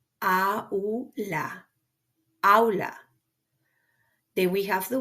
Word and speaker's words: aula: You cannot skip. You cannot combine. You gotta respect the pronunciation of each one that you see, like in this word, that means classroom. It's the word aula. Aula.